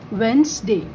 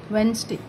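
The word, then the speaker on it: Wednesday: तो वेडनेसडे spelling लिखते time, but बोलते टाइम इसको हम लोग पढ़ेंगे वेंसडे. ये मैं आपको जस्ट बोली आपके समझने के लिए, बट इसका प्रोनाउंसिएशन हम लोग को बहुत याद रखना, अच्छे से याद रखना पड़ेगा. This is वेंसडे.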